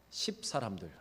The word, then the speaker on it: 십: 여러분 발음을 잘하셔야 합니다. 십사람들.